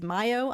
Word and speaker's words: MiO: This is Mayo, as I have learned thanks to a kind subscriber here. I've been pronouncing it Mio. It is Mayo.